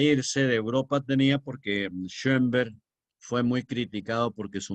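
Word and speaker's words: Schönberg: ahí de Arnold termina con d ese Che o con dos puntos encima y que por eso se pronuncia correctamente en alemán entre o y e schember con m ber con b e g schember que significa Montebello es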